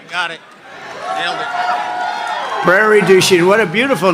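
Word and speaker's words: Prairie du Chien: get worse actually so we're here today in Prairie duen got a good yeah good pronunciation you could have given me a little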